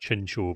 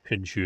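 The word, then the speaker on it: Chinchou: Apparently, it's pronounced Chincho, but I've always said Chinchu, and I cannot I cannot make my brain change that.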